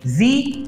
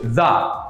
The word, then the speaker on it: the: এজন্য এখানে আমরা বলছি দি ওল্ড ম্যান। আবারও বলি, দি ওল্ড ম্যান। আবার যদি এই আর্টিকেলটির পরবর্তীতে এমন শব্দ আসে যেই শব্দটির প্রথম অক্ষরটি কনসোনেন্ট, তাহলে সেই শব্দটির আগে এই আর্টিকেলের উচ্চারণ হবে দ্য।